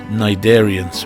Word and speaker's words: Cnidarians: Corals, anemones and jellyfish are cousins, all part of the family Cnidarians with a silent C.